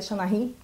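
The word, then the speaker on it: seanchaí: Existiam as Seanachis, ou me disseram que se pronuncia Xanahi, eu não conheço gaélico, mas eram as contadoras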